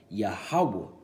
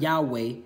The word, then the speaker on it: Yahuwah: at the end so you have yahuwah okay that's the lord's true name man if you don't it's not yahuwah okay it's not your uh yeshua it's not yahweh it's spelled yeah how